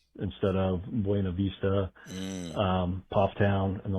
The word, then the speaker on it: Buena Vista: Buena Vista instead of Buena Vista, Pofftown and the like.